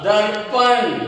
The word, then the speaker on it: दर्पण: व रु शा वर्षा, द रु प न दर्पण।